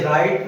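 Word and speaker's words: write: Rule number 7, यदि शब्द W से शुरू हो और उसके तुरंत बाद R आए तो W का उच्चारण वह नहीं होता है और W साइलेंट अर्थात अनुच्चरित रहता है। जैसे राइट, राइट माने लिखना, इसमें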